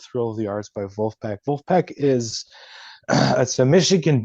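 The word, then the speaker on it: Vulfpeck: but if you haven't listened to Wolfpack it's uh spelled like uh v v u l f p e c k okay but uh yeah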